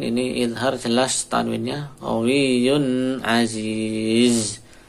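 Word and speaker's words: عزيز: Qawiyyun aziz. Aziz perhatikan zai. Cara membacanya alirkan suaranya.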